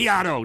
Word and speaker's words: Beato: If you do a Mitch, search you're talking about Beato. I think that's how you pronounce it. Beato, yeah, that's it.